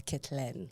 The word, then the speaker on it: Kettelene: to be Frenchie to kitlin klin oh that's the French yes that's the French version of it apparently very cool and now